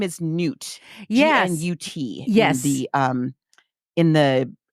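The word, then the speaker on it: Gnut: So I listened to an audiobook and how'd they pronounce it? Gunt. And I'm like, no, it's G-N-U-T. It's Newt. No.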